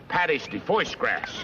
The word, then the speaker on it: pâté de foie gras: It's called pâté de foie gras. Pâté de foie gras. Oh, yeah, that's how they pronounce that.